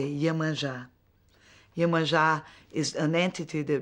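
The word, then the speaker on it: Yemanjá: Yemanja, that's the pronunciation in Cuban, in Spanish. In Portuguese, we say Yemanja.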